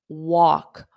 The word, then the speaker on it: walk: Now, the pronunciation of this is walk, awk, awk. I hear a lot of mistakes with this simple word, walk.